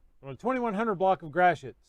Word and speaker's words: Gratiot: it it would be gratiot but it's a lot of stuff here is french from from foreign influence from you know before